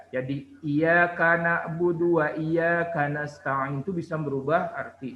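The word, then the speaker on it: إياك: kak iyakanabudu tapi Iya Gan Oh budu wa iyyaka nasta'in nih kalau dihilangkan dianya itu bisa merubah dihilangkan masjidnya di atas ya Jadi ia karena budu wa iyyaka nasta'in itu bisa merubah arti sangat jauh bedanya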